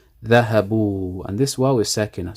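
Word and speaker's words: ذهبوا: So the fatha is changed into a dhamma to accommodate the pronunciation, so it's easier to pronounce. Dhahabu, and this wow is sakina, so it's a mad. Dhahabu.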